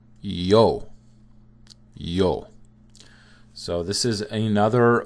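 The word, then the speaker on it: ё: And it's just pronounced like yo, right? With a sort of opened O.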